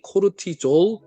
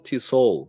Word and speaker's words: cortisol: 음 , 스트레스 호르몬인 코르티솔 의 경우 "cortisol" 과 "corsol " 둘 다 발음 이 맞습니다 .